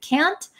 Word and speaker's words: can't: like this, can and can't. So a lot of Americans don't pronounce the T's at the ends of words. So can, C-A-N, can, and can't, we often say can't.